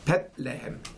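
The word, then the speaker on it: Bethlehem: 고향이 바로 에브라다라고 일컫는 베들레헴, 원래 발음은 벳레헴, 빵의 곳이라고 합니다.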